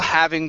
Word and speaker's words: having: Okay, instead of having, pronounce that H. Okay, we're all Okay. having fun.